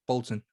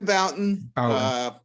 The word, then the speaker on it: Bouton: I've got Jim Bolton. I know I've pronounced that wrong, but it's accent. Jim Bouton.